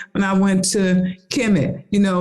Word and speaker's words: Kemet: So when people ask about that question, Kemet, I go there. It's KMT. It wasn't no vowels in that. They added the E's so people could pronounce it, right?